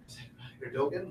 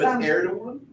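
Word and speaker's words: Erdoğan: So it's Erdogan. Erdogan. Okay. At least that's how I've heard Americans pronounce it. I say Erdogan, but yes, and you were pronouncing it just like very good, by the way.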